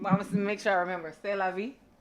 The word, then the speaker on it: C'est la vie: C'est la vie. C'est la vie.